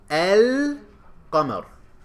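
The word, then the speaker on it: القمر: Shems Sun all right how do you pronounce this first word el kamar do you hear the lam when you pronounce it el come out you hear it right it's present what about the next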